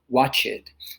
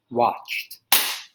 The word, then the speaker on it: watched: of the word watch many students i've heard would say watch it because you're thrown off by that e that change from watch and then the ed at the end so you would think it's two syllables but it's actually one watched and then the next